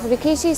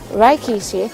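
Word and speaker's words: 力士: Now if rikishi sounds actually familiar to you, some of you may actually know Rikishi from the WWE Wrestling Association in America. Well, Rikishi is actually the wrong pronunciation, it's actually Rikishi.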